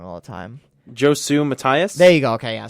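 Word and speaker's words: Josue Matias: And uh Josie uh Mat Mati uh I say his name wrong all the time. Josu Matias.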